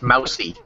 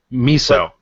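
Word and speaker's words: Musou: very familiar with the Musu game. Muso? What do you say that? Musu? Anyway, very familiar with Dynasty Warriors games. It's mousy. Mousy? Mousy. It's pronounced miso.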